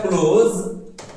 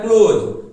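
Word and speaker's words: close: और क्लोज ज साउंड निकालना है यहां पे। ज नहीं ज। ठीक है? क्लोज ज नहीं। एक होता है ज।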